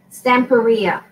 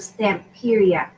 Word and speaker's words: Stamperia: it stamp baby at something like that I'm pronouncing units manage stamp area that's what it is stamp Korea instead of stamp period so you know to eat your own however